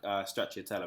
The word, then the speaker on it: stracciatella: Like, I remember having the, now I'm not going to be able to pronounce it right, the stracciatella?